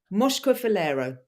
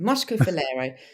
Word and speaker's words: Moscofilero: So I've had to write it out phonetically. Right. The grape that we're doing from Greece this week is Moscofilero. That is only taken Nailed it. 35 times to do. Moscofilero.